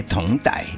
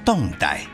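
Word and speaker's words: 侗傣: 而咱这边就先插播校正一下，最近有访客跟我指教说这个同傣应该念作动傣。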